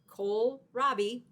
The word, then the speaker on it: kohlrabi: Yep, that's how you pronounce it, kohlrabi.